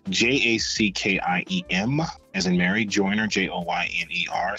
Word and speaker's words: Jackiem: Most people spell my first name wrong. It's Jackiem, as in Mary, Joyner, Joyner.